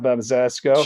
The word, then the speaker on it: Zemeckis: That's how you pronounce that. Zemeckis.